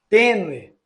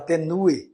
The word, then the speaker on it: tênue: u e o i tênue o u e o e tudo são os mesmos casos Você não vai falar tenu etc nesse esses outros os